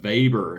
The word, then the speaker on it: Weber: But but VBER and it's spelled Weber, right? But he's German and it's pronounced with a V.